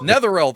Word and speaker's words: Netheril: near though what is it yeah the rule netherreal there we go apparently one of their floating